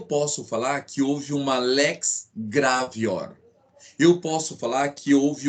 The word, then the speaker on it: lex gravior: Isso, pessoal, em latim a pronúncia é essa. Então lex gravior. Essa é a pronúncia correta.